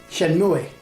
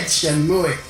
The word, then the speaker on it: Shenmue: Yeah, Shenmue, Shenmue, Shenmue. Right, straight off the bat we have a mispronunciation.